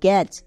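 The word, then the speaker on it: catch: পরে সি এইচ আছে টি এর পরে সি এইচ থাকলে তখন টি সাইলেন্ট থাকে তাহলে মনে থাকবে রিডিং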